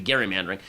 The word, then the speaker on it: gerrymandering: Right, it isn't actually pronounced Gary, it should be gerrymandering, who signed a bill to redistrict Massachusetts.